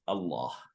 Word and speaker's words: Allah: delete the eye vowel I have no idea why Allah is pronounced with a dark l no one can answer